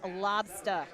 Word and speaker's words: lobster: the sole purpose of instructing you on how to properly say lobster roll. Lobstah roll. It's Lobstah, lobster. If you really want to say it like someone from my neck of the woods here in Mass.